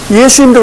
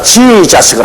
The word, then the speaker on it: 예수: 예수님도 그렇지 않습니까? 정확한 예수님의 이름은 예수입니다. 예수. 우리 한국말이 딱 맞아요. 근데 이 미국 사람들은 자기들 발음에 맞춰가지고 지자스를 합니다.